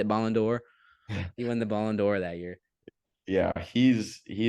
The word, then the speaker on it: Ballon d'Or: do you say Ballon d'Or he won the Ballon d'Or that year yeah he's he is so good